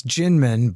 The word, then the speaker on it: Kinmen: exactly yeah okay so it's Ginman but spelled with a K so everybody go and